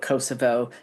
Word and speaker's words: Kosovo: A lot of people call it Kosovo. That's the Serbian pronunciation. So the Albanian is Kosovo.